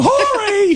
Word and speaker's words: Horry: Isn't his last name Horry? It should be, but he calls it Ori. Yeah, for some I would too, reason. I think. Yeah, the H is silent.